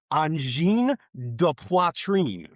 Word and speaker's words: Angine de Poitrine: In English, it looks like Angine de Poitrine, but it's pronounced. I'm gonna totally blunder this. Angine de Poitrine.